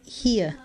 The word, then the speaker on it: here: Aquí se dice here. Tenemos una I y una E juntas, lo que equivaldría a pronunciar una I larga.